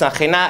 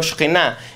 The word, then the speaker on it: Sajena: Sajena, I'm pronounced Sajena, it's not like in Hebrew Shkena, it is neighbor, we